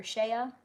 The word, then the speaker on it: Shay: Oh, it's pronounced Shay. Okay, thank you. So like shea butter.